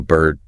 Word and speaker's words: bird: That R heavily colors the vowel sound. You get bird turn turd. That distinctive sound, right? That very American sound. In non-rodic British English, since the is silent, you just get a long steady vowel sound.